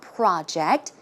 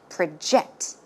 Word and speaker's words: project: okay in this case the stress goes in the second syllable as you can see it's not project when it's a verb it should be project project one more time